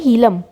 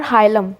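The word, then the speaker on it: hilum: एक notch present होता है जिसे कहते हैं हीलम. ठीक है, और हाइलम, जो भी आप कहना चाहते हो. ठीक है, आपकी प्रोनाउंसिएशन पे डिपेंडेंट है, हीलम या हाइलम.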